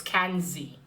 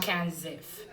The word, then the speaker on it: Kenzie: in the name but it's kenzie not kansas so kenzie kenzie is a grey